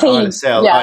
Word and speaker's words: Isla: Isael is not Isla. As I keep saying, it's Isa, but it's spelled ISLA.